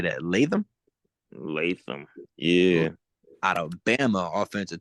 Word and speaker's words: Latham: Latham.